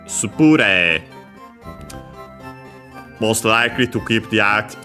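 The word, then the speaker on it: スプレー: Because spray in English would be on the rei. Yeah, no, in Japanese it's on the pu. Spure.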